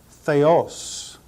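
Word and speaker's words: θεός: the word for God Theos the first is Theta the next one Epsilon Omicron and a final Sigma notice the acute accent over the second syllable this word is transliterated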